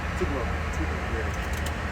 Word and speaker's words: Tupelo: Can you pronounce the name of the town again? Tupelo.